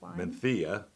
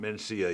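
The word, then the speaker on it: Mencía: chance to me yeah man Thea and we were discussing this earlier that's not Mencia even though it's spelled like it it's man Thea in it what I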